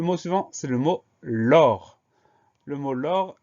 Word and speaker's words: lors: Le mot l'or, il s'écrit à peu près comme il se prononce, c'est-à-dire L-O-R, et on va mettre un S à la fin. Donc, c'est un S qu'on n'entend pas, un S muet, auquel il faut penser.